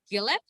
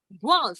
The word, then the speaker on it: Guelph: If we come to Gillette, right? That's how you say it, or how do you say it? Oh, well, Guelph. yes. Okay, Guelph. well, I it's butchered it.